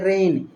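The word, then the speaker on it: reign: achievement late freedom रेन रेन पढ़ते हैं रेन ये उसी की तरह उच्चारण है जिसका वो रेन वा वाला रेन God bless Africa okay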